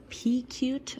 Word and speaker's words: Pecute: of a review of this uh pea cute i believe is how it's pronounced elevated feeder and the